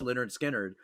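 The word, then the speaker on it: Lynyrd Skynyrd: They took the picture, the cover of the back cover of pronounced Leonard Skinnard.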